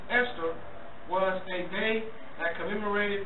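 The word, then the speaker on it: Ishtar: the festival called Easter ishar which is pronounced Esther was a day that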